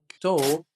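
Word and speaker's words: talk: جاء بعده حرف ساكن وبيكون اخر حرف مش بننطق حرف الال فبنقول وك توك توك ثالث حاجه هاف ثالث حاجه هاف يعني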